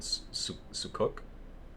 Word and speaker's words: sucuk: Well, at the restaurant I went to, it was called sucuk, but I believe you told me it's called sukuk in Turkish.